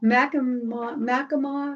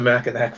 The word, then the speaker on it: Mackinac: But Mackinac, I think we say that wrong. Whatever island, how I think I mispronounced it.